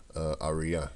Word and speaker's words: Aria: Aria, you say. We say Araya, but you say Aria, so I'm gonna pronounce it how you want it to be pronounced.